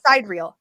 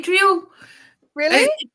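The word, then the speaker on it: sidereal: Sid how do you say this word not side real I say sadal really it depends you know it depends where you're from how fancy you want to be I just I've heard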